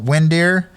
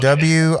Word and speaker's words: Windir: So the band's called Windir. It's spelled Windir, and it's a Norwegian word for warrior, and they're a Norwegian black metal band from the 90s that's gotten big.